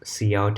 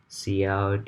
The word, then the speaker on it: cout: So make sure you pronounce this cout and cin properly.